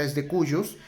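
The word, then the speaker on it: de cujus: y al the curious se escribe the curious pero no cometan la equivocación por favor la pronunciación correcta desde cuyos y significa el de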